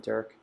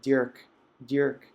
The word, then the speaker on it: Dirk: We'll talk about our friend Dirk and or Dirk, as we would probably pronounce in Flemish.